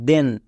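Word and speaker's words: then: এর পরে আই আছে কিন্তু টি এইচ এর জন্য দোয়া হচ্ছে কেন কারণ এখানকার প্রত্যেকটি ওয়ার্ড ব্যতিক্রম এরা রুলস ফলো করে না যেমন দেখো টি এইচ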